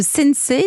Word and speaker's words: Sensei: Vous êtes le fondateur de Sensei. Ça se prononce comme ça ?